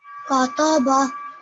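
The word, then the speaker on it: كَتَبَ: Kataba, Very good. Excellent. So can you hear how this student made sure that the kaf, the ta, and the ba were equally long, which is only 1 second?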